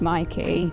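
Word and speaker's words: Myki: be tapping your Mikey card and it is pronounced Mikey then we gone on to another tram 109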